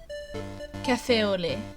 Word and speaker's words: café au lait: You don't pronounce the T. Café au lait.